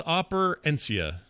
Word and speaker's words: Operencia: It's operencia.